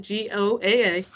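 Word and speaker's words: GAOA: come and visit so go go that's how you pronounce it g-o-a-a g-a-o-a goa is something that's really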